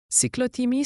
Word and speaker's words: cyclothymie: Cyclotimie se prononce cyclotimie.